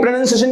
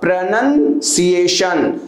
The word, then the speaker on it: pronunciation: अपने से लहा लेना है, तो लहा के उच्चारण नहीं करना है, राइट? तो क्या होगा? राइट प्रोनंसिएशन क्या होगा? प्रोनंसिएशन.